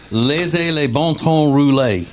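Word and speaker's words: laissez les bons temps rouler: Laissez les bon temps rouler is how you say that.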